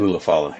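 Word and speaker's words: Ula Fala: Ulafala, yeah. Ulafala. I have to assume this is going to be the main event because, they're doing it for the Ulafala. Roman Reigns is going to get the Ulafala back, and then The Rock's going to show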